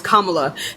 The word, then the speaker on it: Kamala: actually it's only pronounced as one way it's Kamala people who pronounce it any other way do not pronounce